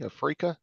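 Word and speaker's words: Afreeca: all these naer TV band Africa afria TV afria yeah that's how you pronounce it kick and then Instagram wow I've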